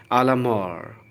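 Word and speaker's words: à la mort: Okay, ध्यान से सुनिए, आलामार, मार ऐसा बोल सकते हैं। So this is it's right pronunciation.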